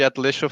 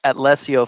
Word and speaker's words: Atlesio: Can you tell us a little bit what is the Atletico family, if I'm pronouncing it right? Yeah, absolutely. So, we are the Atlesio family, is basically how I've been pronouncing it, and we're a multicultural mafia-themed DAC.